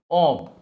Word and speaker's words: of: এখন ও, দেখো, ও এফ এর উচ্চারণ কিন্তু অব, আর ও double এফ এর উচ্চারণটা খেয়াল করবা অফ।